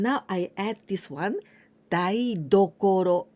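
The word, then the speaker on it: 台所: As I told you, only tokoro, this is place, and now I add this one, daidokoro. Here I pronounce with ten, daidokoro.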